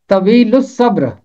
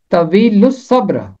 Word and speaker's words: طویل الصبر: آگے ہے صبر، تو اس کا تلفظ ہوگا طویل الصبر۔ حوالہ ہے خداوند رحیم